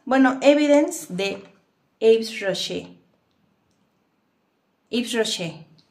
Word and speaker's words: Yves Rocher: Yves Rocher. De hecho, se pronuncia. Es francesa la marca.